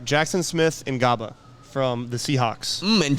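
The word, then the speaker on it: Smith-Njigba: All right, Jackson Smith and Ngaba from the Seahawks. And Jigba. And Jigba, yeah, that's how you say it.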